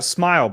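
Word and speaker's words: Smael: It's smile, which is a nice easy pronunciation. We all know that word.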